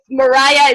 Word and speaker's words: Moria: So in Hebrew, it's Moria. Maria. But that's hard to pronounce. To Americans, great. So if you guys want to go all the way and say Moria or Moria, that's great. If Mariah is easier for you, that's also totally fine.